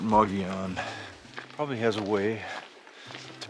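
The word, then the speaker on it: Mogollon: how to say it the native arizona people i know call it mogeon probably has a way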